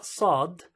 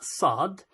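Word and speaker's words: صاد: so for the letter Saad it sounds as if it's an S but why I put heavy s over there the reason for that is because it's sound is different so if you listen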